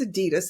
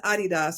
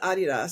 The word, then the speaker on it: Adidas: out of college by Adidas and it's actually pronounced so we know it is Adidas in the States but it's actually pronounced Adidas because it's someone's name it's AI dsler so